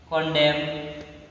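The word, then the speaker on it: condemn: जैसे ऑटोमॉन, एम एन दिया है ना, यहाँ पे एन जो है आपको साइलेंट है, एन क्या है आपको साइलेंट है ना। डैम, हैम, कॉन्डेम, कॉलम, ईटीसी।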